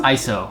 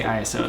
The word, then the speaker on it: ISO: It's actually pronounced ISO. I always say ISO though.